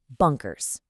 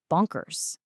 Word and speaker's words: bonkers: This part is completely unstressed and short. And this is important. It ends with a soft Z sound because of that S at the end. So, it's not a sharp hissy S. It's a gentle Z sound.